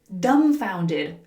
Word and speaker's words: dumbfounded: Dumbfounded. Dumbfounded. Notice that the B is silent.